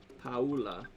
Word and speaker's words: Paula: Paula.